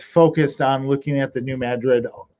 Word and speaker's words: New Madrid: got immediately ah yeah it's the new madrid although it's spelled like new madrid yes but it's madrid and in 1898 to